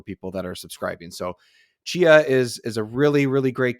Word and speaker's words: Tchia: So it's pronounced Tchia, but it starts with a T.